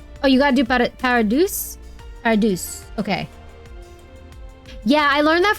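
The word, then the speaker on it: Paradeus: Paradus pronounces how it's spelled with. Oh, you gotta do Paradus. Paradus.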